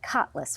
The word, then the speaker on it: Kotlus: It's written by, and make sure I say this right, Kotlus, right? Kotlus, yes.